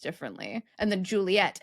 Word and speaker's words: Juliet: And then Juliet has two T's because French speakers would not pronounce the T unless there were two.